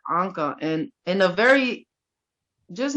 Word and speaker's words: Anca: or whatever um he starts off the show like annika came and he looks at me he's like oh how do you say your name and i was like anka and in a very